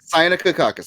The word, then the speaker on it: Cyanococcus: Cyanococcus. That is the right pronunciation.